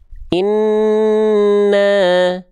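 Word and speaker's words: إِنَّ: Inna inna. Nah, gitu ya. Jadi dia ditahan dulu dua harakat.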